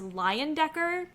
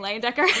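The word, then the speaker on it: Leyendecker: is although okay so apparently his last name is pronounced lion Decker I'm gonna keep saying Lane Decker because that just goes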